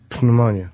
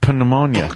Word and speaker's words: pneumonia: Pneumonia. Pomona. Pneumonia. That's how it's pronounced. Pneumonia. There's a P in front.